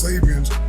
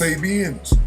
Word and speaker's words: Sabians: later his cult emerged calling themselves savians pronounced sabians clearly misunderstanding savism and fooling his flock.